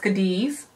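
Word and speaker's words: Cádiz: I believe it's pronounced Cadiz.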